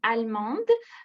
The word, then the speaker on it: allemand: Et en ce qui concerne la prononciation, je voudrais proposer allemand, allemande. Ça dépend du genre du mot. On dit allemand, c'est si masculin et on dit allemande, c'est si féminin.